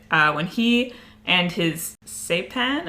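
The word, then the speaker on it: Cêpan: when he and his say pen I think is how it's pronounced so I would pronounce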